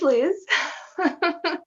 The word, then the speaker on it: Luz: Well, my name is LUZ. Well, how do you spell it, by the way? Maybe some. It's spelled L-U-Z, as in LUZ.